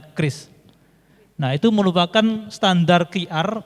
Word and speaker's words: QRIS: biar God reeindonesia standart yang dibacanya Kris Nah itu merupakan standar